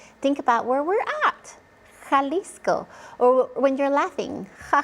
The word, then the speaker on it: Jalisco: Jalisco. Or when you're laughing, ha ha ha. That J sounds comes from the throat, similar to an H.